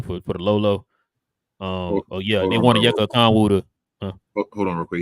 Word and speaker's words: Onyeka Okongwu: Yeah, Onyeka Okongwu.